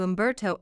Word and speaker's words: Umberto: before taking a plate, easily pronouncing his name without the H sound that many locals added.